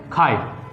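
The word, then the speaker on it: χ: इसको ऐसे बोलते हैं, लेकिन जो प्रोनाउंसिएशन होता है वो हम ऐसे करते हैं, खाए। क्या बोलते हैं, खाए। इसे चाय नहीं बोलना, या फिर चाय छी नहीं बोलना है, क्या ए के ऊपर कैप बना दिया, खाए।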